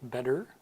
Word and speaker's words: better: So the first word would be better in American English, better. And it's not exactly like a D sound, but it's a very short, fast D, butter, butter, kind of between a D and a T sound.